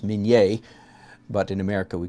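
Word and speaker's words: minié ball: then this is a minie ball it's actually pronounced min yay but in America we call it mini this was invented during the Civil War and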